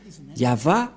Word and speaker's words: Yahvah: pas y voir je vais traduire en français yava est un veillant guerrier c'est un vrai guerrier c'est-à-dire yava et son nom il s'agit donc de des